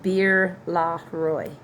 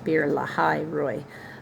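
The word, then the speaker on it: Beer Lahai Roi: me that is why the well was called beer La Roy beer La Roy the H is pure ly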